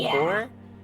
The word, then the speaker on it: corps: It's not corpse pronounced as core, right? C O R P S E. It's pronounced core.